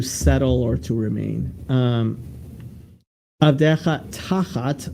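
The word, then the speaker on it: תחת: Avdecha tachat, right, instead of, literally beneath, right? This is where the word tuchas comes from. Tachas is how you say this in Ashkenazis.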